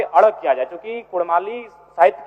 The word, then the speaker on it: कुड़माली: है ठीक उसी प्रकार कुड़माली में अभी कुरमाली र उच्चारण होता है वर्तनी में जबकि वह मूल रूप से परंपराओं की मान्यताओं की बात करें तो अड़ होना चाहिए और अंग्रेजी दस्तावेज में